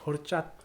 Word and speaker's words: horchata: Horchata.